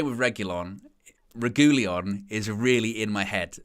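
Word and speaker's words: Reguilón: there's actually two there's there's two pronunciations that he says in there he says regulion and then he says rajulian got kg you're making me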